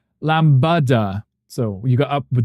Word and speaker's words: lambada: The only thing is the stress on the second syllable of a lamb. Uh, Lambada.